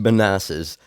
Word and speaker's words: Manassas: that's what we had here in men it's pronounced Manasses um Virginia it was a prospect series and